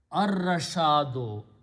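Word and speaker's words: الرشاد: will become al-rashado, but when ra and lam come together, you don't pronounce lam, but you pronounce ra twice. Ar-rashado.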